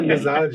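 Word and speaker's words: मिज़ाज: अक्सर वो मिजाज लोग प्रोनाउंस भी नहीं करते बराबर। मिजाज कहते हैं। मिजाज नहीं है। मिजाज है।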